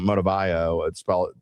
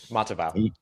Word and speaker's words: Matavao: They may get another one, and we may see what, and I always pronounce his name wrong, Motivayo. Pronounce it for me, Ross. Matavao.